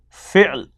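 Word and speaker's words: فعل: Then number 2 is fi'l. Again difficult to pronounce. Fi'l. This is vowel and this A is a consonant here. Fi'l. This is for ayn.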